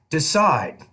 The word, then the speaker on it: decide: With word stress with verbs, 2-syllable verbs, we typically put the stress on the second syllable. For example, decide.